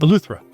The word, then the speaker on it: Eleuthera: Eleuthera.